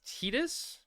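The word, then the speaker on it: Tidus: I had the actual VA say the correct pronunciation is Tedus. Yeah, but how would he know? He never had to say it. It's pronounced tetus.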